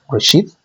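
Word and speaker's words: רֵאשִׁית: to write this word in Hebrew, and it's pronounced Reshith.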